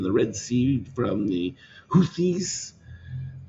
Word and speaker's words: Houthis: Additional activity in the Red Sea from the Houthis. That's how you say it.